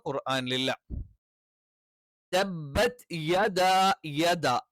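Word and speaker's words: يدا: തബ്ബത് യദാ യദ. യ എന്നുള്ള യെ ആയി പോകരുത്, യ എന്ന് കറക്റ്റ് പറയണം.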